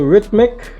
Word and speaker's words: rhythmic: a second H, because the word is not rhythmic. It's actually pronounced with that tongue between your teeth.